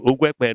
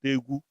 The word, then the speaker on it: Ekpeye: That is the real name, Ekpeye, not Egu. Ogwekpeye. Ekpeye. That is our own pronunciation.